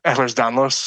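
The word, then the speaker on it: Ehlers-Danlos: on Reddit where people with I'm going to mispronounce this ears danlos can you tell me say that for me oh yeah ERS Danos okay there's a whole group of people that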